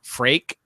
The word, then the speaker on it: Freak: Apparently, I've been pronouncing, which I knew, Freak's name wrong the whole time. It's pronounced Frake, and although he said, "Wow, 300 episodes, great job."